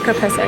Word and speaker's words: caprese: Ciao, vorrei l'acqua naturale, Coke, Coca-Cola, e caprese. Am I saying it wrong? Caffè. No, caprese.